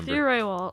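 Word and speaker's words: Matthew Rehwoldt: It's not pronounced like it's spelled, so then I start doubting myself, and then I just forget what it is altogether.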